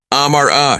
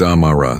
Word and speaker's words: Amara: "Amara," she said, saying the name wrong. It sounded harsh the way she said it. "It's Amara," the girl corrected softly with the emphasis on the second part.